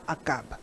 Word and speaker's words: Achab: Prononcé Achab ou Akab. Akab.